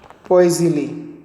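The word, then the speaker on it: Poiseuille: ठीक है, प्रोनाउंस कैसे करोगे, पोइसिली।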